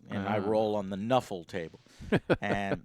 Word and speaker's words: Nuffle: I roll on the Nuffle table. And they call it Nuffle because they saw NFL and they just pronounced it out loud, and it's a way to get around the licensing for games.